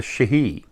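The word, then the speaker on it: sídhe: they call them the Shahi uh when you look at the way it's spelled it's like it says Sidi uh but they call the Shahi um they're like Forest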